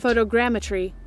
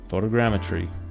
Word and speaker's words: photogrammetry: yep yep let's see here going to google pronounce it photogrammetry photogrammetry there we go cool this has been sort